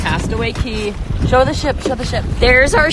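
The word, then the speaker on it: Castaway Cay: We're at Castaway K. Castaway K. Key. It's K. It's spelled K. It's pronounced key.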